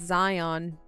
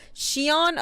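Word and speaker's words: Xion: Zion you're thinking of is it xon I think it's pronounced Zion but I feel like that's wrong Peppers W no Shion okay y okay she on it's the only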